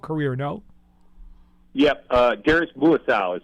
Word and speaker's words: Muasau: of an NFL career no yep uh garus muasau is how you pronounce by the way it's that's all right